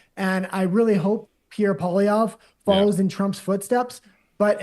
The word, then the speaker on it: Poilievre: We heard Nat, what is the pronunciation of the gentleman that's running against Trudeau? Pierre. Pierre Poilievre.